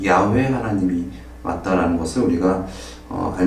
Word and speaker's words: 야훼: 수 있습니다 어느 사실 우리가 여호와 이것은 한국식 어 좀 표 이라고 할 수 있는데 사실 원어에 가까운 발음은 야외 라고 어 많은 분들이 얘기하고 있 죠 이것은 나라마다